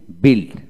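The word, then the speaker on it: build: এখন আসেন BULD, বিল্ড। আইপিএ বানানটা হলো BILD, বিল্ড বিল্ড বিল্ড।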